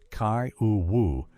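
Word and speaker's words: Kiowa: Kya the Kya, pronounced Kaou Woo, whose name means main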